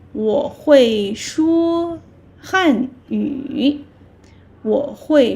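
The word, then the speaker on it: 会: Hui. You can say Hui. Kind of similar pronunciation as my name, right? My name is Huang Hui.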